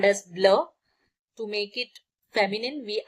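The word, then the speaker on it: bleu: Blue is called as blur.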